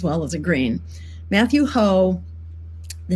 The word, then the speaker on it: Hoh: run and this is the campaign of matthew ho that's spelled hoh who's running for senate in north